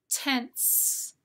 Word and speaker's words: tense: Read the words tens, tense. Now you probably noticed the S says Z in tens, t-e-n-z, and the S says S in tense, t-e-n-s.